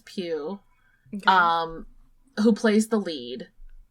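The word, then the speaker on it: Pugh: really touch on but Florence I believe you pronounce it Florence piu um who plays the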